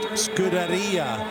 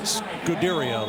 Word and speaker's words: Scuderia: into me and said, just remember, it's pronounced Scuderia Ferrari, not Scuderia like so many Americans like to call it.